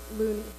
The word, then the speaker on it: Lunny: Lunny, L-U-N-N-Y. Not you... pronounced Looney.